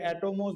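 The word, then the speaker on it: ἄτομος: এই কর্নার নাম দেন অ্যাটম বা অ্যাটমোজ বলে এ টি ও এম ও এস যেটাকে অ্যাটমোস বলা হয় গ্রিক ভাষায় অ্যাটমোস মানে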